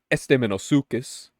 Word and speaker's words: Estemmenosuchus: Esteemosis pets, if you will, because I learned how to say this pet's name, which it is Esteeosukus.